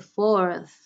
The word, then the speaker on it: fourth: 4th of me listen I said the fourth with the sound at the end why because I use